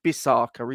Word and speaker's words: Bissaka: Mate, probably you'd have to get it rhyming with Musaka. That's the only thing that off the top of my head that rhymes with Bissaka is Musaka.